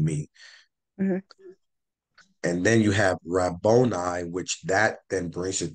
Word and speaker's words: Rabboni: Rabboni. Rabboni.